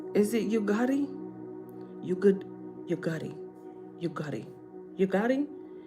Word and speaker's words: Ugadi: This is how we pronounce the name Ugadi. Oh, ooh. Ugadi. Why was I saying you? Oh, it's Ugadi.